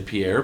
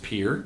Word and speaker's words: Pierre: Sometimes people say Pierre, but it's pronounced Pierre.